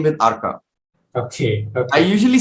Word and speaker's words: Arka: a little later when a lot of Bengali people would ask me my name, I would say my name is Arka. Oh. I would say na, Amar naam Arka, because I am born and brought up in Bombay. I answer to Arka.